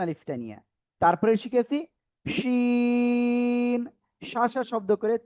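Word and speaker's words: شين: জিহ্বার এই যে মধ্যখান তার বরাবর উপরে তালুর সাথে লাগিয়ে শা শা শব্দ করে এই অক্ষরটা 3 আলিফটা নিয়ে উচ্চারণ করতে হবে। শিন শিন।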